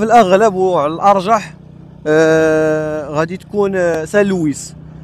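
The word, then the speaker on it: Saint-Louis: كاين هذا المشكل هذا في الفرنسيه ديال لا برونونسياسيون دي كونسون ولا نطق ولا لفظ الحروف الساكنه، فبعض المرات تيتنطقوا بعض المرات ما تيتنطقوش، ولكن في هذه الحاله هذه في الغالب غادي تنطق لنا كاينه واحد القاعده تيقول لك بان الا كان قبل منه واحد الفويل ممكن اننا ننطقوه.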